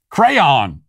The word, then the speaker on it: crayon: the word crayon how he pronounces the word cran and i'm not sure